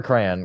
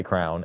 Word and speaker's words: crayon: have a specific way except for crayon crayon I will never say Crown it's not it's not Crown guys it's not spelled c-r-o-w-n it's c-r-a-o-y-o-n you literally